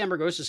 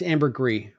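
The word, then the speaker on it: ambergris: element I like the amber ghis element because it's uh underwater right y it's Amber gree by the way yeah that's the whale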